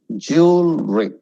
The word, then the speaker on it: jewelry: Jewelry. It should drop. Jewelry.